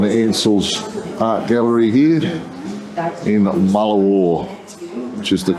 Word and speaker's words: Mullewa: we're in Helen anel's Art Gallery here in Mala War which is the correct pronunciation spectacular what his so what do you